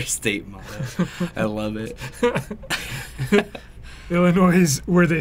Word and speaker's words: Illinois: Illinois is where they say Illinois, the S is silent.